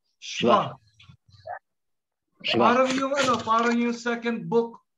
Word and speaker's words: shva: It is shva. Shva. Come on. Lahat na shva. Tayo mag-unmute, please. Because this is also a very important vowel sound. This is shva. Shva. Shva. It is not shiva.